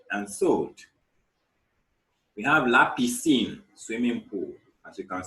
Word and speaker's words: piscine: We have la piscine, swimming pool, as you can see in the picture. La piscine.